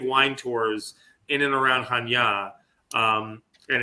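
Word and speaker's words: Chania: around the area of Hanya and Hanya spelled in English is c-h-a-n-i-a-hanya but it's pronounced and it's a beautiful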